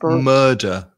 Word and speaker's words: murder: Just be careful with the pronunciation, because again, that vowel sound is like learn or burgle. Yeah. So murder, a murderer.